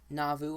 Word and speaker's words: Nauvoo: Nauvoo, I believe is how you say it.